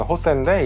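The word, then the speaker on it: José: 호세가 그 스펠링으로 하면 JOS인데 이제 스페니쉬 발음으로 하면 호세인데 이제 그 JO를 따서 그냥 조라고 불렀던 것 같아요.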